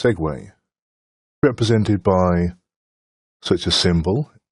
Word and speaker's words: segue: Now, my European mind had me pronouncing this as se but I'm assured it's pronounced segue represented by such a symbol in the storyboard editor.